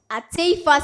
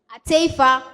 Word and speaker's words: Attafuah: My school name is pronounced ata Senior High Technical School. Atea Senior High Technical School.